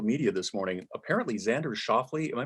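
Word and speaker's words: Schauffele: on on social media this morning apparently xander schaffly am i pronouncing his name correctly you are yeah apparently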